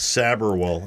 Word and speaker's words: Sabharwall: Sabharwall. Okay, I'm going to make sure we do that correctly. The way that you said it is probably the most common pronunciation of it.